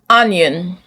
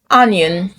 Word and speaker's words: onion: The O makes the sound uh. Uh. Uh. So, you don't say stomach. You say stomach. Stomach. Money. Money. Comfort. Comfort. Onion. Onion.